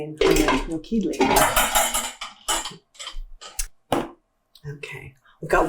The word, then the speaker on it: Nokedli: you how to make Hungarian dumplings, which is pronounced Nokedli. Well, our cauliflower soup has been cooking for about 45 minutes. And it's ready to add our dumplings, or as they say in Hungarian, Nokedli.